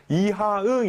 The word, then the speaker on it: 이하응: 아니죠 왜 아 좋습니다 4 2분은 바로 흥선대원군 이하응 이라고요 2항 발음 하기 힘든데 잘 한번 따라해보세요 이하 흥